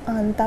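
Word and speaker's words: 앉다: नियन, तो मैंने इसको आंता पढ़ा। क्या प्रोनाउंसिएशन होगी इसकी? आंता, इसकी इक्ता। अब आप देख रहे होंगे कि मैं इसको दा ना बोल के ता बोल रही हूँ।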